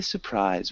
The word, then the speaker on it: surprise: So when we say surprise, we don't really, like I said before, pronounce that first R. So it sounds more like surprise instead of surprise.